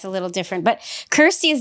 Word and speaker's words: Kirsty: so I'm so sorry I've been saying your name wrong I won't do it again. So Kirsty.